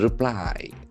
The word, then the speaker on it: reply: Reply, we can feel the accent falls on the second syllable, reply.